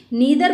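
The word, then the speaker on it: neither: Same way नीदर बोलें या नाइदर बोलें, ये भी प्रोनाउंसिएशन सही है।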